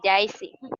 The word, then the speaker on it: Jaisi: Se pronuncia Yaisi.